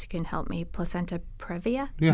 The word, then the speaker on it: previa: Yeah, there's a lot that a woman's doctor can advise her about if she's got, I never pronounce this right, perhaps you can help me, placenta previa? Yeah, previa.